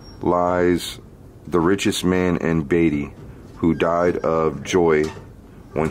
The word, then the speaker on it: Beatty: He said Beatty. It's spelled B-E-A-T-T-Y. I'm pretty sure it's Beatty.